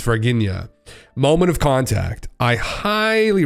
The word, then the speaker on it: Varginha: It's called, I always think it's Varginha is how I always think to pronounce it, but it's Varginha.